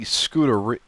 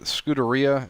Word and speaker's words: Scuderia: Now, I think it's the Scuderia. Is it Scuderia? Is how you pronounce it?